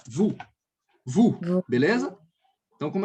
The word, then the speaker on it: vous: Sempre que eu tiver OU no francês, então aí eu vou ter som de U do português.